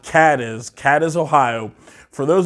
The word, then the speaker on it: Cadiz: Cadiz because I've heard it pronounces Cadiz and Kate is but it's pronounced Cadiz cat is Ohio for those of you who